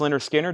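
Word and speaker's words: Lynyrd Skynyrd: Leonard Skinner, pronounced Leonard Skinner, that is the music on vinyl version.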